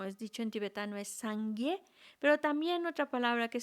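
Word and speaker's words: སངས་རྒྱས: Os voy a hablar en tibetano, son 2 sílabas, Sangye.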